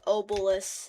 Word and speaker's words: obelisk: I used to say obelisk instead of obelisk. I don't know why I said it with silent K. I said obelisk, not obelisk. I don't know why I said it with a silent K, bro.